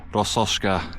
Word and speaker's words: Rossoshka: This memorial is dedicated to the people of Well, let me pronounce it correctly. Who lived in the village of Rossoshka.